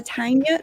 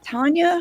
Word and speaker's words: Tania: everybody let me introduce everybody this is a tanya tanya how do you say your name me oh